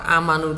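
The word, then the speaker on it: آمنوا: Amanu, kata amanu itu dibacanya amanu begitu.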